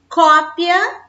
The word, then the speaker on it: cópia: bom vejamos aquele pênis cópia reparem que o som é aberto cópia é um substantivo e copia do verbo copiar eu copio tupia selo ela copia então existe uma diferença na pronúncia mas a grafia é